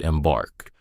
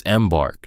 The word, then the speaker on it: embark: He said it like he had said it, embark. 2 hard syllables. It's embark, she said gently. Stress on the second.